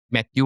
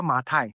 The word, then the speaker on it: Mathieu: It's like Matthew, right? Okay, so my Matthew is French. So the anglicized version is Mathew lah. So in Mandarin, it's still Matai. 好像马太福音一样Matai. So your pronunciation is spot on.